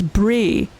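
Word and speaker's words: brae: But fun fact, in Scotland, B R A E is always pronounced as Bray.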